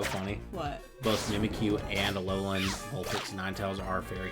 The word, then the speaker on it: Alolan: Alolan. Alolan ones, yeah. I think that it's like really pretty. So also I just like foxes, so yeah. You know what's so funny? What? Both Mimikyu and Alolan, Vulpix, and Ninetales are fairy types.